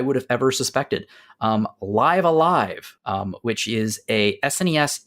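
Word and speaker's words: Live A Live: we've been talking about is it pronounced live alive or live aive or nope live alive rhymes with five alive yeah I'm I'm definitely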